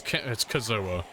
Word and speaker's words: Kazoa: It's Kazoa. Is it Kazoa? If I say your name enough times, eventually I will get the right version.